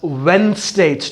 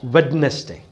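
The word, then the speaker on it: Wednesday: द डे इज वेनसडे इट इ lovage pronounced as वेनसडे never prawn a day reason ट डी is silent so यू प्रस इट एस वेनसडे नॉट वेडनेसडे fine so we'll begin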